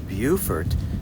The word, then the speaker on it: Beaufort: Buford, South Carolina.